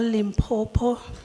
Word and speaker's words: Limpopo: bit of a lesson when you call Lim poo you just say Lim then say poo then you connect the two words is limo not limo